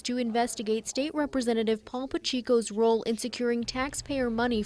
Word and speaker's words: Pacheco: Jessica, this complaint was sent to the Attorney General's office today alleging State Representative Paul Pacheco, that's how he pronounces his name, failed to disclose a conflict of interest in a major project.